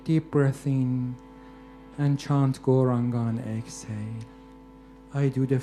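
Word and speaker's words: Gauranga: Goranga has 4 syllables. Go, ra, anga.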